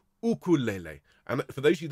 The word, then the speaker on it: ukulele: UK it's the UK because the Hawaiian people pronounce this ukulele and for those of